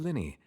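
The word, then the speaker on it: Lyney: is to have you that felt like a wrong pronunciation ah Mr Linny I should say it is in fact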